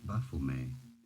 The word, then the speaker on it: Baphomet: The name was first used by the French, so it is a French name originally. In French, it is said as Baphomet.